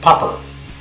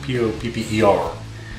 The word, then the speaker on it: Papa: His name was always Popper, as in P-O-P-P-E-R, is what it sounded like.